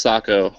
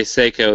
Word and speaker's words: Sako: And it is pronounced Sako because when you say Seiko, that's actually a watchmaker, and so if anyone Finnish hears you, they'll actually laugh at you.